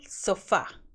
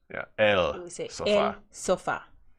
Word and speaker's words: sofá: sofa for sofa yeah so the accent the written in Spanish has an accent on the a there's two syllables so far the accent is on the last syllable so far it's not